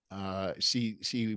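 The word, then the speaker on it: Xi: So anyhow, get the book, Mao's America by She Van Fleet. She is spelled X-I.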